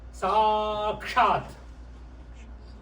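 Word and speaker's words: साक्षात्: When you just read it as one word, how would you read it? Sakshat. Sakshat. Right? Just 2 syllables.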